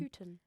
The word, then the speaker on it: Houghton: How do you pronounce her last name? Houghton.